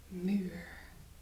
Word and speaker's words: muur: So it's pronounced big and it's pronounced as U. So muur. Okay? Muur. Now that's the same way as we say the alphabet.